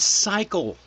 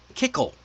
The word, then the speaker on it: cycle: the word cycle popped up and one of the new cadets who wasn't a native speaker pronounced it kickle.